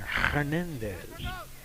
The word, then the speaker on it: Hernandez: Hispanicized the pronunciation there. Hernandez.